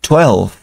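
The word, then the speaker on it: twelve: Eleven y 12 12 la v va a sonar eh igual como F de foca muy parecida la diferencia es que la f de foca eh saca expulsamos más aire al producirla foca foca y con esta V apenas y sale un poquito de aire 12 12 12 la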